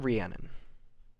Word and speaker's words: Rhiannon: and your name again ma'am uh I am Rhiannon Rhiannon and how would you spell that rhi a NN o n ready Arnold